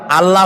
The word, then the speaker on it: আল্লাহ: টের পান এটি আমাদের মনে রাখতে হবে তো আল্লাহ তাআলা তার উপরে আমাদের বিশ্বাস হচ্ছে এই যে